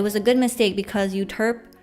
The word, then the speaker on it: Euterpe: But it was a good mistake because Euterpe kind of rhymes with derp, and that would have not been good, like brand-wise, I feel.